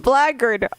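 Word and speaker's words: blackguard: Black guard pronounced blard.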